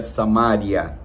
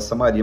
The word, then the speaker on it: Samaria: das Judeia Samaria eles O Judeu pronuncia samária mas se pode falar Samaria mas sem problema mas judeu mesmo ele pronuncia samária e Galileia cada uma